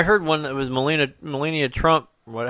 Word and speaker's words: Melania: one that was molina melania trump what how are you pronouncing her name melina millennia melania thank you something there's a aliyah at the end of it yeah he's right um